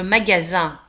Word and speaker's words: magasin: Le magasin. Un magasin. Le magasin. لاحظوا على أن magasin في آخر الكلمة نجد S-I-N وتنطق Z.